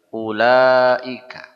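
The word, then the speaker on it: أولئك: Apa ini bacanya? Ulaika. Nah, u yang seperti ini dibaca pendek. Jangan terkecoh dengan wau.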